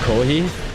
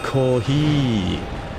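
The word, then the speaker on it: コーヒー: and then I said kohi kohi and then she was like um what I was like kohi kohi but apparently it's supposed to be pronounced kohi. Ah the i is much longer.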